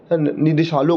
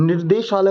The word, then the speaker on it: निदेशालय: तो आप देखो, अब प्रोनाउंसिएशन आपको बहुत सही से करना है, क्योंकि निर्देशालय मतलब बोलोगे तो निर्देश आ जाएगा, निर्देश, लेकिन निदेशालय ये एक सही शब्द है।